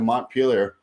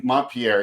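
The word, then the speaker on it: Montpellier: recently he had to montpelier not mon pierre excuse me on my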